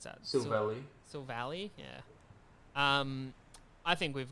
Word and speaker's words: Silvally: can never pronounce this one how would you pronounce that valley silvally yeah um i think we've got some real